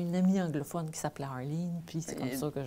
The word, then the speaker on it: Arleen: J'ai bien prononcé ton nom, Arline? Ben oui. Ben, moi, j'accepte toutes les versions de mon nom. OK. Ma mère a dit Arline parce que ma mère était anglophone.